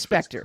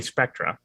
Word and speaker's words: Spectre: spectra so he can he can claim it's pronounced anyway it is spectre no it is an actor it's not spectacular yeah but you can say spectra okay you can it's it's it's a tomato